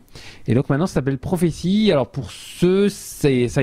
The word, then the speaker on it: Prophesee: Alors, j'allais dire prothèse, mais c'est pas prothèse, c'est prophétie, c'est un jeu de mots.